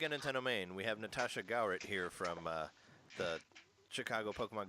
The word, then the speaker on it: Gawrit: Gawrit. Sorry, Gawrit. Gawrt. So like, yeah, it's just Gawrit? like that.